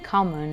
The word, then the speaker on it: common: Quindi non abbiamo le doppie in inglese, nel senso, ogni tanto c'è scritto una doppia, però non lo pronunciamo, quindi common.